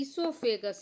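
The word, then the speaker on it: oesophagus: अब देखिए यह इससोफेगस यहां ओ साइलेंट रहता है।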